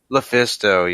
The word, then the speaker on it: LuFisto: Lufisto, yes.